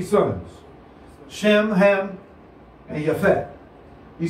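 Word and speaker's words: Japheth: Because there's no J in the original Hebrew language. Not Japhet, but Japhet.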